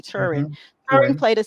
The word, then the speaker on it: Turing: And it was with the Turing machine.